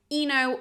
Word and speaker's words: Ino: Whose name is Ino or Ino, depending on how you pronounce that.